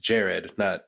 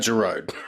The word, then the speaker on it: Gerard: His lead singer actually has to correct people and go, no, it actually is pronounced Jared, not Gerard.